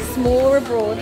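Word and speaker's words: smørrebrød: S'more abroad. S'more abroad. If you want to sound like Google Translate, it's like s'more abroad.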